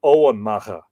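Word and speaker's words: Emain Macha: in the palace of Owen Macha. And apparently I'm slightly not wrong, but slightly nuanced on that. It can be pronounced Owen Macha, which is Navan Fort, just outside the modern city of Armagh.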